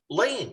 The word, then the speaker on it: Lean: a hint here david you spell your name l-e-a-n indeed and yet i seem to think that it's pronounced lane what's up with that